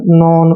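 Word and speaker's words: none: भी डन पढ़ना है नन पढ़ना है बिगन पढ़ना है ना कि आप इसको डोन नोन बेगोन ऐसे नहीं पढ़ेंगे डन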